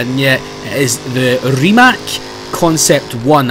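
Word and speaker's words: Rimac: the remac concept one I believe it's how you pronounce it as remac because I know everyone calls it ryac but the guy himself in a couple of salamand videos says it is remac so actually really really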